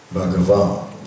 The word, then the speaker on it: Bhagavan: So the word can be broken up in 3 syllables. Bhagavan.